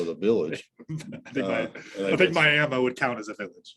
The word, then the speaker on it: Miami: Miami, if you want to say Miami, I'm gonna say it like a local. Miami, Arizona.